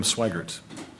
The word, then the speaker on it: Swigert: be answered by either matt steckler or swigert did i pronounce it correctly yes okay thank you matt